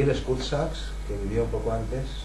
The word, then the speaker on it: Sachs: y él es Kurt Sachs, que vivió un poco antes. Kurt se escribe con C, Sachs, como con CH.